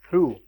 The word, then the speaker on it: through: In BOUGH it is pronounced as bow, and in TH or OUGH it is pronounced as through.